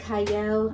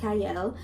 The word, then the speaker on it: Qiayel: I am your host Cy I know it starts with a q but it is pronounced Cy and today I have